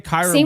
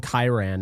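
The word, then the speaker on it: Kyren: You say Kyron Williams right? My brother calls him Kiran and I I cannot stand it.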